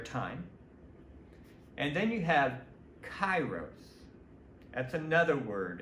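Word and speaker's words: kairos: to l linear time and then you have chyros that's another word it's it's it would be spelled like k a i r oos chyros um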